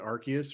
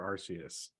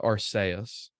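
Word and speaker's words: Arceus: do you pronounce it archus or or arus arus so it's like there's there's there's no there there is no definitive thing I hear it pronounced both ways and I myself will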